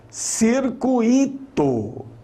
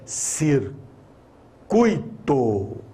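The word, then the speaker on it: circuito: gente que fala assim circuíto não é circuíto é ser curto é um ditongo aqui ó não é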